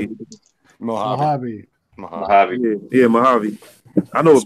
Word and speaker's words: Mojave: I mean, the Mojave Desert goes to like 4 different.